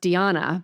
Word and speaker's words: Diana: One of your more colorful characters is Danna Veland, who I never knew it was pronounced Diana, but I Googled and it's definitely Diana, which is because I have a sister named Diana, spelled the same way.